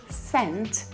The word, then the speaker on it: scent: cents 99 store so if you add letter s at the start we're not gonna make two sounds there even though we write s c we also say scent it means smell you